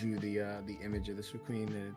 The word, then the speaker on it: Suicune: Suicune. Suicune, okay.